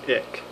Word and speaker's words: ich: Hey guys, I'm a Fish Guy here doing a quick video on ick. It's spelled I-C-H, not I-C-K, even though it is spelled like that quite often.